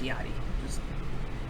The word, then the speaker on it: Lil Yachty: guys I do know his name is pronounced iottie I just want to